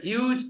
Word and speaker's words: huge: All of you got the pronunciation right, which is very, very rare because a lot of people don't pronounce huge as huge. They pronounce it huge.